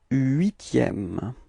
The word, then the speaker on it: huitième: Le huitième. Repeat. Le huitième. Okay, as usual, the first H is not pronounced.